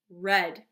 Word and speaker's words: read: Read is funny because the spelling is actually exactly the same, but the pronunciation is different, right? Every day I read to my baby niece. Past tense. What color is this? Red, right?